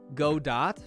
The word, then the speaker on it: Godot: go dot wrong language chat nice try nice try even though it's pronounced godot but how would i